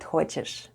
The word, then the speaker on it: хочешь: Soft sign doesn't affect the way we say the word ХОЧЕШЬ /hhochesh/: /hhochesh/...